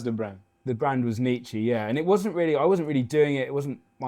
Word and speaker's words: NICCE: NICCE. NICCE, yeah, that's how you pronounce it, but it started off as nice